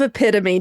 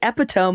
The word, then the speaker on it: epitome: Instead of epitome, John, somebody was like, "The epiome of it all."